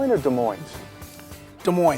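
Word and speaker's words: Des Moines: cuz they play hockey de Mo Iowa is De Mo or de Mo de Mo the S is silent like a PE in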